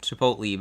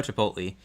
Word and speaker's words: Chipotle: Okay, so it's like Chipotle, but so much better. I don't know if that first place. I know Chipotle.